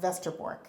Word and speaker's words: Westerbork: the northern town of Vestor which is with a W westerbork but it's pronounced Vester Borg in Holland now my family is